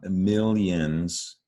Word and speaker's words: millions: Now, something I'm reminded of reading these words again, there's a Y sound, right? In both of these words, millennials, millions. We don't spell it with a Y.